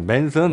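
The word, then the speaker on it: Manson: 아, 맨슨. 네, 맨슨 기타라고 이제 메이슨이라고 읽어야 되나? 맨슨이라고 읽어야 되나? 예, 네, M A N 맨슨이라고 하죠. 예, S-O-N이니까 맨슨이라고 하죠. 읽기 예.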